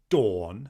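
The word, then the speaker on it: Dôn: So if a word has a circumflex, say, above the O, such as the word dawn for the goddess of the earth, it is pronounced similar to the dawning of the sun, dawn. But if it doesn't have a circumflex over the O, it would be don, don.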